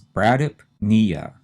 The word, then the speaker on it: bradypnea: The next one has 4 syllables. The stress again is on the knee part, which is the third syllable. So we have 2 syllables we have to say pretty fast and run them together and put the stress on knee.